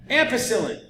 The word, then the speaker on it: ampicillin: give you an any substance that kills bacteria that rhymes with penicillin not kind of so much nope ampicillin okay so we're growing